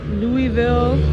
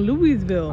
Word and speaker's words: Louisville: Louisville, Louisville, Louisville. I was saying Louisville. I don't care what, because that's how it's spelled.